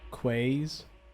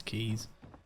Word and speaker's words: quays: Sorry, quays. Nah, it's keys. But I see it and I pronounce it quays.